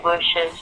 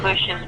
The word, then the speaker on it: Bush's: So, President Bush's paintings were on display. It sounds like it it actually sounds exactly like bushes.